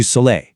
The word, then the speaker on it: soleil: In French, that's du soleil. Hear that A sound at the end? Soleil.